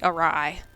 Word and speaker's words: awry: well I think it was actually pronounced awry silver not array awry excuse me all right